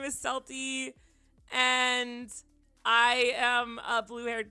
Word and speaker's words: Celty: Like, yeah, I I I know that people call me Kelty, which is fine. I pronounce it Selty because it's based off a character that I really liked.